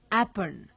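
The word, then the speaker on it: Aipan: The folk art of Kumaon is known as Apan, to be pronounced Apan, which covers a large canvas of religious and ritualistic life.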